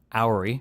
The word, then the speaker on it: Houry: Um, for my audience um that doesn't know who you are, so I believe your last name is pronounced houry.